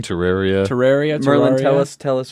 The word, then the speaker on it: Terraria: Usually, Is it Terraria or Terraria? I guess it depends on who you ask. I pronounce it Terraria. I pronounce- say Terraria. Terraria. Terraria. Okay, so I always pronounce it Terraria. I don't. Maybe there's a right way or a wrong way. I I don't think know. the official is Terraria, but I'm so used to Merlin- saying Terraria.